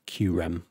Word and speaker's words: Kyurem: do the chirum qram apparently it's pronounced qram but uh maybe to to Western audiences it looks like Kyurem so uh not really